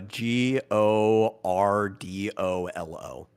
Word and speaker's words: Gordolo: How do you spell it? Gordolo. Uh G O R D O L O.